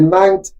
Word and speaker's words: Knapp: I'm calling it Knapp according to American pronunciation.